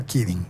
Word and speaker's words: Kaeding: Ese mismo año, en el Wexner Medical Center de la Universidad del Estado de Ohio, el doctor Christopher Keating, espero que se diga Keating, se escribe Kaeding, utilizó las gafas para consultar con un colega remoto que estaba en Columbus, Ohio.